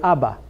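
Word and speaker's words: אבא: as Abba ah but because that our sound is below the olive I have to sound that olive when you have no sound beneath the olive when it's at the end of a word then it's silent so we have the word Abba okay now we talked to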